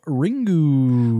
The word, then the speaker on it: Ringu: pronounces the word as ringu but in fact Japanese words must end with either a vowel or an N so the U should be pronounced as a softly vocalized schwa and I don't don't